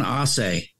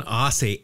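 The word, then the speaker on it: Aase: And I got to make sure I pronounce this right. Don Ausse. Don Ausse. A-A-S-E? Yes.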